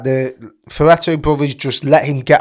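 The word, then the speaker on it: Fertitta: It was the Ferretto brothers.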